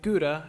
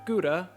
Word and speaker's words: gouda: one take the word gouda for example which is a type of cheese now you may not realize this but the d in gouda is not pronounced like a normal d it falls between two